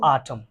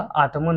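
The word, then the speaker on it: Autumn: चौथा में है टू आटम, टू आटम, यहाँ पे एन साइलेंट होगा, आटमन नहीं कहेंगे, टू आटम।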